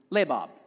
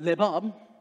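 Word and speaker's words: לבב: the hebrew which is labab if you're into french it's not lebab it's right in hebrew i believe in hebrew the accent goes in the first part the first syllable and so when we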